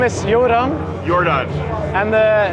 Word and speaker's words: Joran: What's the correct pronunciation? It's my name is Joran.